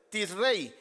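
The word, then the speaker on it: Tishrei: décimo día de Rey si es que así se produce se pronuncia Perdón en hebreo tis rey El séptimo mes del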